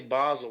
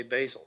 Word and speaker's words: Basel: difference to me and why do you say Basel when other people say basil because they've never been to Basel Switzerland and they don't know how to pronounce it like they do in German Basel Yaya Basel Okay so